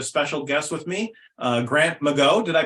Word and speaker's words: McGaugh: For my second pilot episode today, I have a special guest with me, Grant McGaugh. Did I pronounce that correctly, Grant? That is Grant McGaugh. McGaugh.